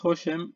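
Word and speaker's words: השם: Se pronuncia Hoshem y aquí tenemos la palabra, es la Mem,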